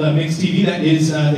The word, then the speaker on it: MYX TV: the clips right there myx TV it's called mix TV that is uh it's